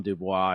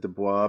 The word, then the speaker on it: Dubois: well, yeah, I've always said Dubois, but I've heard him pronounce it Du Bois. Du So Bois. I guess we have to go with Du Bois.